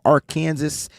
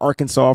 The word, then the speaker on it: Arkansas: Jordan Silver from Ark Kansas or Arkansas for those that are from Arkansas.